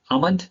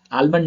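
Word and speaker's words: almond: बाम, पाम, आमंड, आलमंड नहीं पढ़ेंगे, आमंड पढ़ेंगे, राइट।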